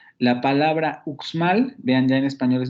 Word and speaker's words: Uxmal: Tiene dos consonantes de coda en la primera sílaba. Tenemos la vocal central, la cerrada posterior, y luego tendríamos dos consonantes en la coda de esa sílaba. La velar oclusiva sorda y luego la alveolar fricativa sorda, uxmal.